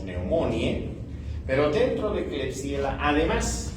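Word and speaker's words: pneumoniae: Clásicamente se escribe tal cual estamos colocando neumoniae, pero pronunciamos neumonie.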